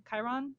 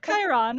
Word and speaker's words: Chiron: yeah so so you have chiron which is the centaur and then you have k ron which is the firemen of the dead so their names are not spelled the same but they are pronounced almost identical so yeah so while